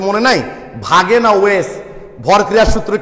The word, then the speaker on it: Waage: German ভাষায় তো ডাব্লু কে ভি এর উচ্চারণ করা হয়, তখন ভাগে উচ্চারণটা আসে।